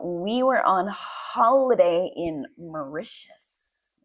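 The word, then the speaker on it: Mauritius: We were on holiday in Maitius. Okay, that's the pronunciation. Yeah, it's a weird word, but it's micious. Micious in English at least.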